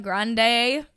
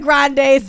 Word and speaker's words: Grande: Ariana Grande and Dalton Gomez.